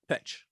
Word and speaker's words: Petsch: Is that how you say it? Yep, Petsch.